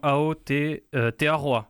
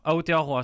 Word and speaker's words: Aotearoa: C'est le Super Rugby, alors je vais essayer de ne pas faire d'erreur de prononciation. Aotearoa. Aotearoa, c'est le nom maori de la Nouvelle-Zélande.